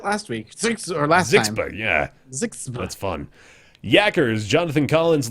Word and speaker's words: ZHXB: How would you say that phonetically? You go ZHXB? I think we did that last week. Last time. Yeah. Zixba.